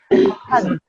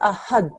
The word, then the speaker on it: أحد: Okay, you're saying ahad, but what you need to say is ahad, and the way to